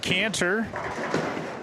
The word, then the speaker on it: Cantor: Cantor from Shanahan Lanes.